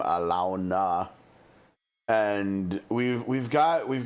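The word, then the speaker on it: Alaune: N E but that's they don't pronounce her name alone. They pronounce her name like in-game Alona.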